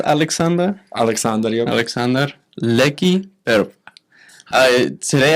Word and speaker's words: Aleksandar: I'm guessing the first name it's pronounced Aleksandar.